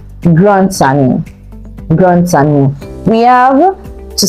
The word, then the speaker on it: grand ami: So if grand ends with D and ami begins with A, the D will be linked to the A, then you pronounce the D as T. Grand ami.